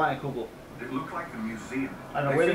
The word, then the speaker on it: Leinenkugel: By reading it, I've heard it called Leinenkugel, so I'm going to call it Leinenkugel.